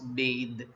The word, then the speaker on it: bathe: And but if you are using it in the form of verb, so bath, it takes e and the pronunciation becomes bathe.